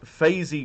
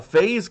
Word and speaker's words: FaZe: course we have uh batman of faizy clan number one uh phase clan but it looks like phase the way that it's spelled there with a capital z but i'll take your word for it uh one shot promotional